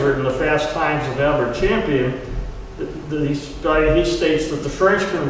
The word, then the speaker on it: Albert Champion: by the name of Albert Champion, otherwise pronounced as Albert Champion.